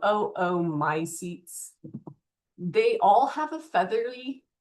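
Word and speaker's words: oomycetes: You'd say both O's. You could say my seats, but remember we want to pronounce every vowel. So, oo my seats.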